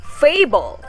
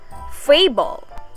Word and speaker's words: fable: in the word fable it is said louder longer and with a higher pitched than the second syllable which are composed of